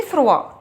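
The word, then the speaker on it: froid: الفي فروا بيكون الجو بارد. الفي بنسأل عن الطقس بنقول عليه الفي يعني بيكون بارد. الفي فروا بارد. اف ار او اي دي فروا. الفي فروا والدي هنا ما بتتنطقش، يبقى سي ليفير الفي فروا.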